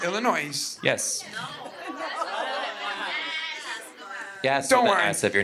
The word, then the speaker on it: Illinois: Illinois a linkoln festival illino with the S we pronounce it now you don't Illinois yes yes if your